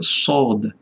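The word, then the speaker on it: ص: liter jeszcze s s jakbyście całuska chcieli dać naciskać język jakbyście s chcieli powiedzieć wymawiać ale to nie całkiem czyli tak sod sod tak po prostu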